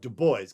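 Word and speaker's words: Du Bois: he wanted it pronounced Deo because he said he wanted it pronounced in an American way now web Deo uh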